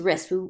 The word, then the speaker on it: wrist: wouldn't say connect or Tom's wrist we don't say the wah or fist right so there's these